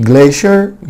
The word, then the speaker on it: glacier: glacier glacier glacier طبعا نطق glacier ده نطق بريتش، اما في glacier glacier وده نطق امريكان.